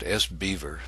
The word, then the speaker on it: SBVR: It's commonly pronounced SBeaver, and it's used to create languages specifically for business rules, and in our case, for access policies.